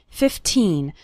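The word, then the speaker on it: fifteen: a day remember to pronounce the second syllable of 15 nice and strong 15 not like 50 which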